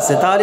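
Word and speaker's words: طاء: তাহলে বীর মতো এই হরফের নামটা কি? ত। কিভাবে হবে? একটু মোটা করে, তাহলে মোটা করতে গিয়ে ঠোঁটটা হালকা একটু গোল হবে, বেশি না, একবারে ত এমন না।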